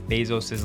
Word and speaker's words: Bezos: And maybe Elon had his autocorrect spelling on, which is why he spelled Jeff Bezos' last name wrong.